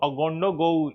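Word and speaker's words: Ouagadougou: यहाँ का जो कैपिटल है उसको देख लेते हैं एक बार, कैपिटल का नाम क्या है, अगोंडा, अगोंडोगो, अगोंडोगो, पूरा पढ़िए तो अगोंडोगो इसका उच्चारण होगा।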